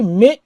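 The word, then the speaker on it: 目: চোখের কাঞ্জি তো চোখের কাঞ্জির একটা আছে সরাসরি মে সাউন্ড মে মানে হচ্ছে সরাসরি আই মানে একটা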